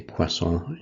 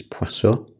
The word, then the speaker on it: Poisson: In English they say Poisson, in French it's Poisson.